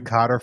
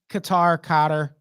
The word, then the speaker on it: Qatar: You mean the Qatar finals? Qatar. I prefer Qatar, but people get so in their feelings when you pronounce it that way.